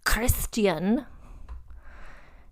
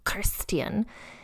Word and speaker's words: Christian: So yeah, so then the son was born a name that is pronounced, as my Danish consultants have both said, with a very guttural, almost like Klingon type thing.